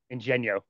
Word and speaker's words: Ingegno: It's funny because it's one of those things where even fluent Italians might mispronounce it, and it's full Interesting. on Italian. Full on You know, Italian. yeah, Ingegno.